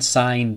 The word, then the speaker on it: sign: Remember, G is not pronounced when it comes before an N. Champagne, foreign, sign, design.